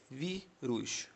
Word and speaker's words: vírus: Eh, vírus, vírus. Vamos separar vi. Rus. Você tá vendo que a sílaba tônica aqui é no V, beleza?